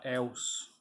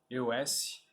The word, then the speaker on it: EOS: comprei, que é da EOS. EOS. Eu já vi muita gente pronunciar como EOS, mas dos vídeos que eu vi da Frigelar parece que pronuncia é EOS.